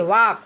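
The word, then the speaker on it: walk: टॉक means बात करना डब्ल्यू ए एल के वाक वाक मींस टहलना एफ ओ एल के फोक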